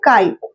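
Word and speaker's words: χ: इसको प्रोनाउंस करते हैं काई।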